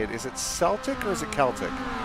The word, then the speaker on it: Celtic: say it is it celtic or is it celtic celtic is the scottish pronunciation of the team okay because the celts